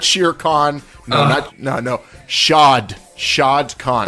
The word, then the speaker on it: Shahid Khan: Shad Khan. Shahid Khan. But his friends call him Shad.